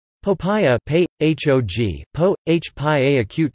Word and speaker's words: 薄餅: Popiah, pei, h-o-g, po, h-pi-ah, acute to the power of n, is a Fujianese, Chaoshan-style fresh spring roll common in Southeast Asia. Popiah is often eaten in the Fujian province of